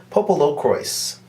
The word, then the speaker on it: PoPoLoCrois: actually encountered popolo croy popolo croise popolo croise they pronounced it popolo crois in the psp game